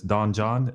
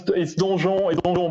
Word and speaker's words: Donjon: have added to this Don John. I think that's how you pronounce it. It's Donjon, but yeah, I know it's pretty hard to pronounce if you are not a French guy.